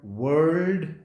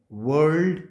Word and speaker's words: whorled: This type of arrangement is called whorled arrangement. Whorled arrangement. The pronunciation is whorled arrangement.